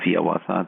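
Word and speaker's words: Hiawatha: when one of his most famous poems, the song of Yawata, that's how he wanted it to be pronounced, published in 1855.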